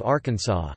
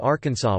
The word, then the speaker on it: Arkansas: In 1881, the pronunciation of Arkansas with the final S being silent was made official by an act of the state legislature after a dispute arose between Arkansas's two U.S.